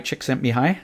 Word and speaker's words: Csikszentmihalyi: I read the famous book flow by Mihai Csikszentmihalyi is that right Wow you get an award for pronouncing that right yeah but you know and